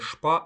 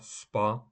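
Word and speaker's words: Spa: водні процедури або Спа Спа не шпа а Спа повага еспект ресторан дастога слово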